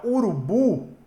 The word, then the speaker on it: urubu: Por exemplo, a palavra urubu, ela é uma palavra oxítona. Por que ela é uma palavra oxítona? Porque a sílaba mais forte dela é o bu.